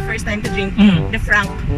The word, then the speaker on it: FRNK: Sabi niya, Frank. Sabi ko, wala ba talagang A yun? Sabi niya, opo, wala. Wala talaga.